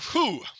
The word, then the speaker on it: Fou: And I wrote down the correct way to say it, but I changed over to the Japanese pronunciation, which is why I tried to do I tried to use H sound because F in Japanese sometimes only becomes H. So I tried to say who, and no, it's not.